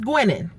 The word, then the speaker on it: Gwinin: the end of it so if it's spelled g-w-i-n-i-n that's gwenin okay and also just go